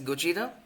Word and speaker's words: Gojira: The product name comes from the second syllable of the Japanese word pronounced as Gojira, which is Japanese for Godzilla.